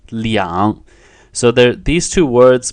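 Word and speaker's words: 两: you don't use are you won't say what can tell are going on it's actually Leon so they're these two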